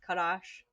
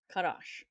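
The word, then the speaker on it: חדש: 2318 is Kadash, which is spelled Chat, Dalet, and Sheen, right? So this is a CH, a D, and a SH. Kadash.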